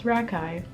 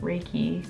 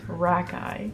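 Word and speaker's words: Rakei: for this moment but it's rakai not reiki or rakai it's rakai yeah honestly i can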